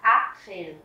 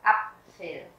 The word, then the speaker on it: Apfel: Mình không đọc là Apfel mà mình đọc là Apfel.